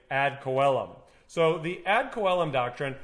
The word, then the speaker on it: ad coelum: the ad coelom doctrine there's different ways to pronounce this some people say add chelum some people say add celem some people say add column i'm going to say add coellum so the ad column